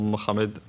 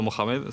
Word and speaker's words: Mohamed: Me llamo Mohamed. Aunque mal pronunciado Mohamed, sería Mohamed. Si vamos a pronunciar en árabe, sería Mohamed.